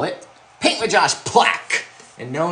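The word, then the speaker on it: Plack: So we call it Paint with Josh Plaque. And no, not the plaque. It's spelled P-L-A-C-K.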